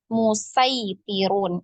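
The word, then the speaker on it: مصيطرون: Nah, itu bisa kita baca dengan kalau menggunakan ini ya, menggunakan riwayah Hafs ini ya dibacanya musaitirun ya, musaitirun.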